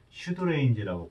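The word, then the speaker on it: pseudorange: 거리를 뜻하는 레인지 입니다 시드레인지 발음은 슈돌에 피가 무분이기 때문에 슈드레인지라고 발음합니다 유사거리 또는 의사거리 의사거리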